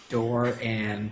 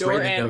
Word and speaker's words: Doran: watched a video and listened to him say his name so that I would get it right because I got it so wrong last week. Doran. It's Doran. right in the notes.